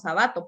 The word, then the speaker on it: Sábato: si es así y si lo pronunciamos sábato pero es una palabra esdrújula así que ojo para